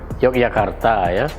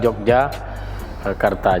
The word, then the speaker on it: Yogyakarta: dengan Belinyu sama seperti Yogyakarta Yogyakarta Tuhan sering dilafalkan orang dengan Jogja sebenarnya yang benar itu adalah Yogya Karta bukan Jogja karta jadi nama diri atau